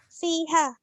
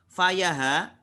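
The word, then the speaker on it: فيها: Fiha. Ya, bagus. Kenapa fiha, tidak fayaha? Ha ini kembali ke al-khamrah. Ya, bagus. Kenapa dibaca fi, tidak faya?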